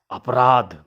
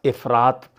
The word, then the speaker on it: इफरात: बोलना प्रारंभ कर दिया अपराध उसके पास अपराध पैसा है इस तरह बोला जाने लगा जबकि सही उच्चारण होना चाहिए उसके पास इफरात पैसा है उसके पास इफरात धन